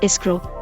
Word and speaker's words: escroc: The undisputed etymology of the English noun screw is from Middle French escroc, pronounced escroc, which evolved into present-day French écrou, pronounced écrou, and designates the nut of a bolt.